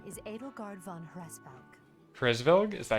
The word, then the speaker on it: Hresvelg: Hresvelg? Is that how you pronounce it? Okay, so it's phonetic. Okay. It is actually exactly like you'd think. Hresvelg.